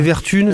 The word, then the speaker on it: Vertumne: Il y a un M, mais c'est quand même Vertune, comme automne après coup. Exactement, c'est comme automne, voilà. C'est Vertune, ça s'écrit Vertune pour les auditeurs, mais voilà.